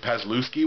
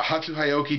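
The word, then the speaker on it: Hatsu Hioki: name right this time I usually pronounce it pasuki which I know is very wrong but I believe I got it right that time uh hatu hyoki 254 and two on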